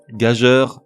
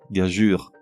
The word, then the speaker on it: gageure: Pour chacun d'entre eux, tout d'abord la mauvaise prononciation, suivie de la bonne. Rébellion, rébellion. Abasourdi, abasourdi. Sempiternel, sempiternel. Adéquate, adéquat. Consensus, consensus. Gageur, gageure.